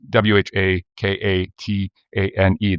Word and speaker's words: Whakatane: towns and cities that the names start with a WH, and that is always pronunciated with an F.